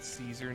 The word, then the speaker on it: Caesar: C's in Latin are always hard C's, not soft C's, I believe. Something like that. They sound like a K.